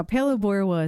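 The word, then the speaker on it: Phalaborwa: Now, Palabora is spelled it's P H A L A B O R W A. Yeah, you're good. I was not even close. I know. It doesn't sound like it's not spelled how it is.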